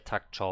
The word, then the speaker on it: 닥쳐: 너 방미서 못 찾으면 Clear takcho for me. All the like 5 different sources I have here sound like takcho to me. So it's definitely a K in the end of the first syllable, and the E sound is not hearable in the second syllable.